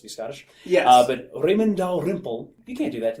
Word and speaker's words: Dalrymple: So, as written, I understand this name to be pronounced Dalrymple, which is a Scottish name, Raymond Dalrymple, and because